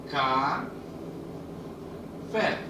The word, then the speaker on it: café: é a sílaba tônica no outro caso café cá fé ea outra também oi gê olá nestes três casos você vê que a última sílaba é a sílaba mais forte a sílaba tônica nesses